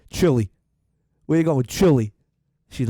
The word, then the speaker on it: Chile: We were walking in Chile, her and I, together. Okay? And she kept calling it Chile. And I started to think, how beautiful is that versus the way the Americans say it? Chile.